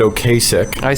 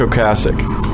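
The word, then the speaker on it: Ocasek: I said Okasich like John Kasich the presidential.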